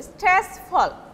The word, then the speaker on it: stressful: When you are pronouncing rapidly, it will be like stressful, not full actually, stressful.